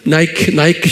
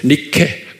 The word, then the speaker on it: Nike: 나이키 신발이요. 여러분들 신고 다니잖아요. 나이키 신발. 이게 빅토리아라는 뜻이에요. 이게 로마로는 말이에요. 승리의 여신을 나이크라고 그래요. 니케. Nike. 그걸 우리 발로 하면 니케예요. 그런데 영어로 발음하면 나이키.